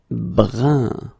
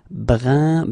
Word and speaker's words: brun: All right, brun, same thing, it's not brun, but it's brun.